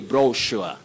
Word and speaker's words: brochure: Then Eddie Mokola, say brochure, brochure, or brochure.